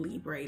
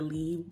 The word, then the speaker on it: Libre: If you want to, you can go into Google Translate and put in Libre. That is how we say it in the US, but that is not how it's pronounced the French way.